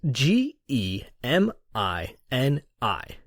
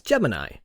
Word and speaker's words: Gemini: the word Gemini is spelled g e M I n I which lends itself to two pronunciations the one I use and the one I've always heard used in conversation is Gemini no big deal right